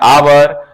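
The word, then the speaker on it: hour: अभी अभी समझाए हैं आवर आवर एच से शुरू है लेकिन उसका उच्चारण है आवर आ से शुरू होता है इसलिए हम वहां पर एन का प्रयोग करेंगे तो यह आर्टिकल का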